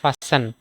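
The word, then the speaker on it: fasten: হইছে এরপরে আছে এফ এসটি এটারে আমরা টি সাইলেন্ট কর যেটারে আমরা ফাসেন ফাসেন মানে বাদ দেওয়া মানে রশি দিয়া বান্ধ দেওয়া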